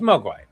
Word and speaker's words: Mogwai: How do you pronounce that? No, it's Mogwai, m o g w a i.